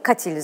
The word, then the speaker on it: katil: katildir öldürdüğü zannedilen kimse katil zanlısı o a kısadır Evet katil öldürme anlamına